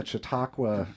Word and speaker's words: Chautauqua: coming through Fort Wayne as part of the chiaka tour did I say that right yep y